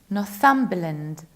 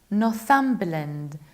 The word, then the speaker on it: Northumberland: And another county, this one, it's Northumberland, Northumberland. We reduce the ending b and land, Northumberland.